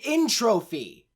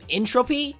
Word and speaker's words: Entropy: somebody up on the pronunciation of the name entropy which I might add is spelled t-r-o-p-y how the hell did they mess this up in Trophy isn't even a real word the actual physics term